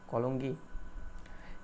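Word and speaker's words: Cologny: কলোনি, Switzerland. যাই হোক, প্রোনাউন্সিয়েশনটা একটু পড়ে নেবেন, কলঙ্গি।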